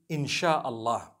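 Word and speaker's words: insya Allah: language they write in sia allah the s-y-a they pronounce it they pronounce the s-y the way we pronounce s-h so they can write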